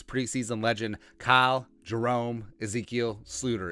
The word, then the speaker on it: Sloter: legend kyle jerome ezekiel sleuter it's a dutch pronunciation name to the all usfl